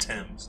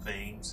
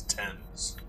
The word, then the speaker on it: Thames: And it's pronounced Thames, not Thames, it's Thames.